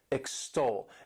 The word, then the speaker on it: extol: This word has 2 syllables and the stress is on that second syllable, extol.